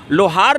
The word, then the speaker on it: लोहारा: जब LOHARA को लोहार लिखा है संविधान ने, तो कोर्ट कहता है कि नहीं, LOHARA का उच्चारण लोहारा होगा।